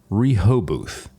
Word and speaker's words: Rehoboth: Now, earlier in the day here, I absolutely butchered the pronunciation of that name, so I'd like to officially redeem myself here. Rehoboth.